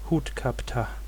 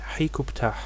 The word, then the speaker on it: Hut-ka-ptah: Ka of Ptah, and is conventionally pronounced Hut-Ka-Ptah. This name is also attested in Akkadian cuneiform as Rikub-Ptah, and also in Ugaritic as, well, here the final ha is missing, so it is probably Hikubt or Hikubta. Comparing these sources, we can reconstruct the pronunciation of this name as Hikubtah.